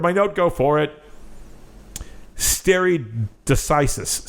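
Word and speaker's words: stare decisis: I where did my note go for it stere decisis stere decisis there we go stere decisis stere decisis this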